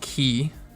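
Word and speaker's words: き: Next is Ki. Looks like a key, and it's pronounced the same way.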